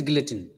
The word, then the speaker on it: guillotine: The pronunciation is guillotine.